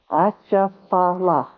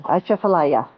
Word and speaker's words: Atchafalaya: Okay. Cha, Cha, fa, fa, la, la, ya. Atchafalaya. So you get it? Laya. Laya. Just jambalaya. Atchafalaya.